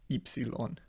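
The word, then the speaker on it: ύψιλον: is also e um rather than oilon it's ipsilon so those are the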